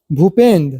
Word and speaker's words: भूपेंद्र: है यदि जब बी के बाद एच आए तो बी एच को भ ध्वनि की मात्रा उच्चारण करते हैं ये सिंपल रूल है